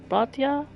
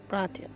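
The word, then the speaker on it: братья: Bratya. I mean, I see it in the YouTube feed. Bratya. Spelled like B-R-A-T, brat, and then yeah.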